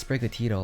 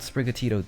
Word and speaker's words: Sprigatito: in the sneak peek Ron pronounced sprig atito like a normal person naturally saying the word but they made Zeno redo it and now the finalized dub pronunciation emphasizes the Tito at the end spro has been registered